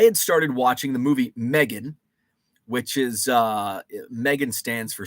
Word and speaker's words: M3GAN: Pronounced Megan.